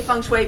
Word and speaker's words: feng shui: By the way, I say feng shui because that's the Mandarin pronunciation.